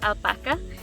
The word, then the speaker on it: alpaca: how people say it these animals did originate in south america and so it is a spanish word and it is pronounced alpaca so think of taco